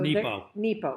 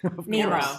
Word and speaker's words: Nepo: So Nepo. Mark Nepo. Did I say it wrong? Nemo. I said Nemo.